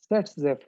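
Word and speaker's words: Saytzeff: which is known as Set-Zepf rule. The pronunciation is same, Set-Zepf rule, because in German this Z is pronounced as S and S is pronounced as Z.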